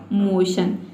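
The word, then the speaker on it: motion: तो देखिए एम ओ का हो जाएगा मो और टी आई ओ एन को हम पढ़ते हैं शन। तो इस तरह से इसका प्रोनंसिएशन हो जाएगा मोशन।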